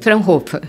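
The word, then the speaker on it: Fraunhofer: coordenadora da plataforma FR Froofer, é assim que pronuncia, Franhofer, Franhofer, de novos sistemas alimentares, além de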